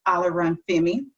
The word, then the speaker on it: Alaran Femi: O, because he said people can't pronounce his last name, but I can. It's Alaran Femi, right? Yes.